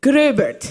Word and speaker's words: Gröbert: Dutch, so I'm supposed to be able to pronounce this, but we don't get the dots and the O's, so Felix Gröbert.